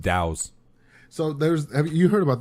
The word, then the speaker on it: Taos: Let's say that's Towels? Taos. Towels? Taos, New Taos. I usually read it as Tacos, New Mexico when I see it. Towels? I thought it was towels. Taos. Taos. It's pronounced Dows.